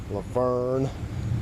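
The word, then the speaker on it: Lavergne: It's spelled L-A, then it's V-E-R-G-N-E, Laverne, Tennessee.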